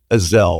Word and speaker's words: Ezell: You don't call it It is actually, but it's easy to drop the E. It's easy to sound a little bit intoxicated saying my name.